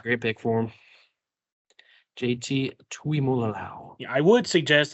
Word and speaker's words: Tuimoloau: I think this is where JT Tumalo goes. I know I said his name wrong. It's a great pick for him. JT Tuimoloau.